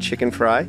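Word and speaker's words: Chickenfry: Chicken Fry?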